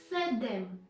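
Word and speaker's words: седем: the end number seven number seven is said them this is similar than english 7 with d yes ok number 8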